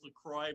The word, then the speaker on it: LaCroix: It is LaCroix, but we love to say LaCroix.